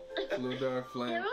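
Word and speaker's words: Fflewddur Fflam: Fluda Flam. Okay, so that's his name. I was having trouble pronouncing it at first.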